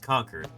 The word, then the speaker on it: Concord: says Pablo's on Twitch conquered it's pronounced conquered yeah that's where my grandpa lives um that's right next to where I grew up conquered California oh I wish